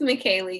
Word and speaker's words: McKayley: let's see here chat how do you say your name at mckayley it's mckayley yeah we got on